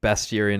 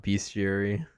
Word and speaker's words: bestiary: It's bestiary, not bestiary.